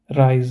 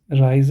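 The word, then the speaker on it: Reise: you have this so you have e i so this is pronounced as I so rise I hope you get it what I'm saying so it's meter and not miter and this is rise and not a reason okay let's start with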